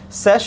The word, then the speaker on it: sesh: Sesh is the word that Egyptologists, at least the way they pronounce it, for scribe in the ancient Egyptian language.